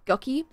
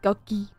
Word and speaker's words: Guqqie: What is the right way to pronounce Guqqie? Like that. It's like Ducky, but with a G.